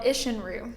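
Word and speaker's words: Isshin-ryu: One style of fighting we haven't discussed is one you'd study called Ishinru.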